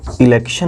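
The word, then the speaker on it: election: लेकिन फिर मैं कुछ वर्ड्स लिख रहा हूँ, जैसे मैंने अभी इसको बताया TION का उच्चारण सन से होता है, ताकि जहाँ कहीं भी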